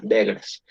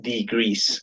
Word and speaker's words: degrees: Entonces, por ejemplo, vemos que dice degres, decimos, degres, pero ya cuando vemos, cuando escuchamos la pronunciación es degrees.